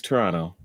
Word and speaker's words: Toronto: that's why one of my web handles is Toronto. I am honored to have you aboard the Toronto. Toronto's a two-syllable word, and I won't have it any other way. Now, if you put in